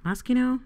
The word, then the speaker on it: Moschino: sorry hit the microphone mosque you know Moschino is how you say it yes the new